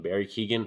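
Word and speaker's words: Barry Keoghan: Barry Keegan, I think that's how you say his name, the actor.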